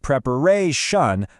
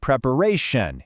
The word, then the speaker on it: preparation: and not preparation but preparation.